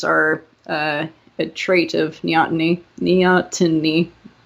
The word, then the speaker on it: neoteny: Neoteny. I have to pronounce my T's. I always leave them out. It's neoteny.